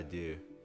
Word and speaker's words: deux: Folie à deux. Folie à deux. The X is silent? Yeah. When okay. you like deux, that's like for counting, that's like DEUX, it's like 2. Un, deux, trois. DEUX is deux.